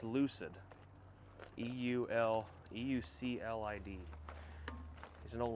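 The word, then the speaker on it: Euclid: It's pronounced Lucid.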